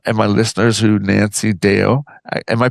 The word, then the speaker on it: Deo: Um can you tell me and and my listeners who Nancy Deo am I pronouncing that properly? Deo, you are.